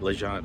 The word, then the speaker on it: Légende: our dinner at Legend that's how you say it Legend I was saying it wrong the dinner we did